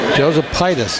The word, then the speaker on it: Josephitis: Josephitis is how he pronounced it on the PA, John.